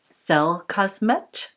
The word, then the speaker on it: Cellcosmet: the skin care brand called cell cosmet i believe is the way it is pronounced this is from switzerland